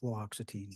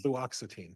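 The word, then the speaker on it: fluoxetine: flatin I have difficulty with that as well fluoxitine fluoxitine thank you yes I'll say it wrong 10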